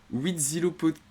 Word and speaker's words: Huitzilopochtli: Ça se prononce Huitzilopochtli. Huitzilopochtli.